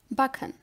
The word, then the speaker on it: backen: CK is pronounced like the last letter in the word cook. For example, backen.